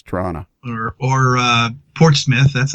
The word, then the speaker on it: Toronto: say toronto yeah and the second t is silent so it's toronto or or uh portsmouth